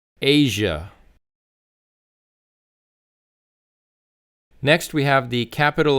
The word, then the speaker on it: Asia: Not Azia, it's Asia like the letter A. So again, Asia. Asia.